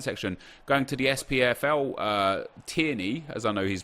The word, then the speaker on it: Tierney: in the comment section going to the SPFL tierney as I know he's pronounced now Timmy's card is great that was